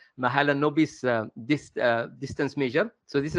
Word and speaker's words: Mahalanobis: Pronounced Mahalanobis distance measure.